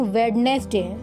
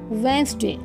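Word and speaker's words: Wednesday: बुधवार, इसमें थोड़ा सा कई लोग कन्फ्यूज़ रहते हैं, लोग कहते हैं वेडनेसडे, तो इसका जो प्रोनाउंसिएशन है वो वेडनेसडे नहीं है, इसका प्रोनाउंसिएशन है वेंसडे, वेंसडे।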